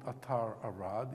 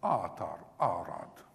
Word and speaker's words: Atar Arad: You mean the it's the first syllable, always, you know. My name is not Atar Arad, it's Atar Arad, yeah?